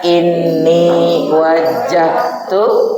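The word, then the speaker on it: إني وجهت: kabir walhamdulillahi wasubhanallahi terus inni pakai tasdid inni wajjahtu waj yang benar bacanya inni wajahtu waj lilladzi samawati Ah,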